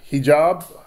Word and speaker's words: hijab: My mom and sister are actually having a conversation whether or not they should continue wearing the hijab.